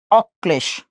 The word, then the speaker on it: অক্লেশ: যদি কর সাথে ল যুক্ত হয়েছে, কর উচ্চারণ কয়বার করব? দুইবার করলাম। আচ্ছা, করেন দুইবার। করলাম। উচ্চারিত দ্বিতীয় বর্ণ কোনটা? এইটা, তার সাথে সেই লটা আমরা যুক্ত করে দিচ্ছি, অক্লেশে।